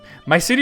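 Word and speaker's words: Mysidia: My city has got Yeah, that's how you say it.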